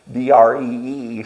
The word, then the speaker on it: Deirdre: So there is an R in there before. Yeah, there is. It's Deirdree. So when you look at it, it's really not that hard to.